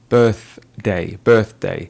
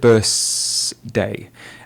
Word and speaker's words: birthday: She did mispronounce the word birthday. She said birthday. And a picky examiner is really focusing on those pronunciation features. The correct pronunciation is with the th sound, and we focus on it a lot in our videos.